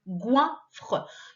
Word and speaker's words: goinfre: Alors attention, le G ici se prononce bien G, vu que derrière il y a un O. Enfin, il y a le ouin, le O de ouin. Donc ça fait G, goinfre.